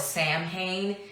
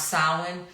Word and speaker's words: Samhain: Global friends in the southern hemisphere are celebrating Salin so we celebrate Salin in the fall some people call it Samhain it's actually pronounce Salin so we reverse it so in the fall